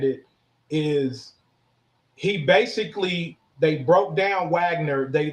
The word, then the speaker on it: Wagner: It's spelled like Wagner, but it's called Wagner.